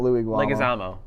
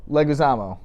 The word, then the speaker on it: Leguizamo: No, not Louis Guamo. Leguizamo.